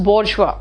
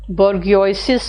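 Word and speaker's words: bourgeois: In Marxist philosophy the बोर्जवा, इसका pronunciation याद रखना, इट्स बोर्जवा, बोर्गियोसिस कुछ लोग बोल देते हैं, इट्स बोर्जवा।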